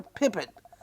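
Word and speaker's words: Pepin: P-E-P-I-N, it's spelled. We call her Pippin.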